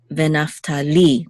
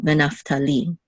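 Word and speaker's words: וְנַפְתָּלִי: So the accent is on venaftali, the last syllable, venaftali.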